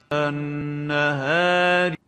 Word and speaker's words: النهار: So the proper way of pronouncing this alif is النهار. So we have to adhere to the conditions of tafkhim and tarqiq. النهار is wrong, النهار is right. A is wrong, A is right here.